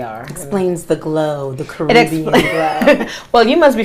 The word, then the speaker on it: Caribbean: A lot of Americans say Caribbean, but if the Carib Indian, so it's the Caribbean.